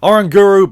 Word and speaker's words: Oranguru: giant ape in play oranguru because that is how you pronounce it is gonna then be